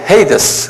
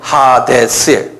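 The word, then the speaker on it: Ἅιδης: 영어로는 헤이데스 그러는데 그대로 발음되라면 하데스의 헬라말로 하데스 그런 이것도 성경에 보면 이게 아빗이란 말도 나오고 또 바텀레스란 말도 나오고 하데스란 말도 나오고 이게 여러 막 나와요.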